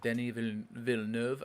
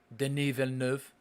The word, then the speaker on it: Denis Villeneuve: Denis Villeneuve, I think is how you actually pronounce it. Villeneuve. Denis Villeneuve.